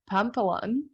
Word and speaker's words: Pampalone: Hello and welcome, Pampalone. Am I pronouncing Hey, it correctly?